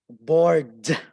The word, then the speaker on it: bored: For example, I was really bored. Bored. You should always pronounce the D, the ed.